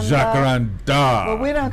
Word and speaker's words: jacaranda: word that migrated into Portuguese so the correct pronunciation is jaara jakaranda jakaranda well we don't call our hakara trees in